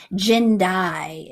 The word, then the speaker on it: Jindai: so this is tartarian aster it's aster tartaricus jindai is the cultivar name um j i n